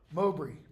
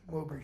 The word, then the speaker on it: Mowbray: Mowbray. That's how that B-R-A-Y, by the way, would be pronounced. Bree.